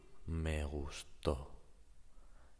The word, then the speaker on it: me gustó: In the first case, the stressed syllable is gus. Me gusto. That means I like myself. In the second case, gustó, to is the strong syllable, the stressed syllable in this case, and it means I